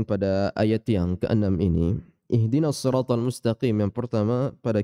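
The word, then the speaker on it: اهدنا: kebesaran ihdina seperti itu huruf hak dari pangkal tenggorokan dan dia sifatnya tipis maka ringan pengucapannya ihe di ih seperti itu ya dia huruf yang tipis bukan profil tebal kita baca ihdina Prof H juga memiliki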